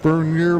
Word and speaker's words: Bernier: Yes, Is that how it was pronounced, Bernier, like the French pronunciation?